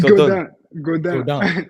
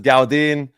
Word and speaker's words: Gaudin: It's Gaudin. Okay. But you get it. And everybody in America says Gaudin, and you have been absolutely tearing up the pro circuit, man.